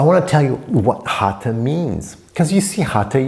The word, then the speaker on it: Hatha: you about the product the correct pronunciation with your tongue kind of curled up so I want to tell you what hata means because you see